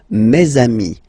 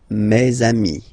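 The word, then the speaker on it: mes amis: And then let's be purist and make the this beautiful le between these two words. Meami. Mei. Meami.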